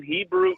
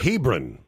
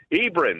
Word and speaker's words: Hebron: Hebrew? Hebrew? How do you say that out there? Hebron. Hebron, that's it.